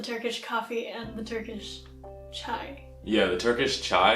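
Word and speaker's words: çay: Yes, you can't forget about the Turkish coffee and the Turkish chai.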